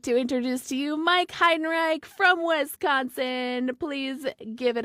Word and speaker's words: Heidenreich: Anyway, ladies and gentlemen, I would like to introduce to you Mike Heidenreich from Wisconsin.